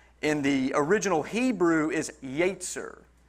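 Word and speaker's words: יצר: the original hebrew is yetzer yatzer i wrote down the pronunciation to help me i can't remember how it's spelled but in the pronunciation it's y-a-y-t-s-e-r just yates and it means mind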